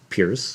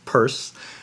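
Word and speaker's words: Peirce: with charles sanders purse his name is spelled kind of like pierce but it's pronounced purse uh if you're not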